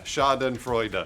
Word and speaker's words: Schadenfreude: Pronounce it correctly for me, Lawrence. That was it. Schadenfreude. Bruce nailed it.